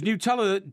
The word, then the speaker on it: Nutella: Is Nutella different to mini marshmallows? I suppose yeah, very it is. Different, yeah. Okay. It's a spread, and it's pronounced Nutella. Right. Because it's made of nuts.